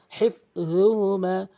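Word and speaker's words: حفظهما: এখানে এক আলিফ টানবেন, এখানে যে ভুলটি সেটা হচ্ছে অধিকাংশ লোক হিফজুহুমা জিমের উচ্চারণ করে ফেলে র উচ্চারণ করতে হবে হিফজুহুমা।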